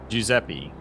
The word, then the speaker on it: Giuseppe: See, the way it's pronounced, yeah, Giuseppe. Here, like, it's spelled Giuseppe. Like, that's how I would pronounce it based off the spelling, but I understand that pronounced depending on where in the world, you know, how they pronounce the words.